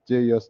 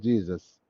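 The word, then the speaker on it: JeOS: And one of the students one day told me, said it or pronounce it like Jesus. So it is JOS, not Jesus. Okay, just enough operating system.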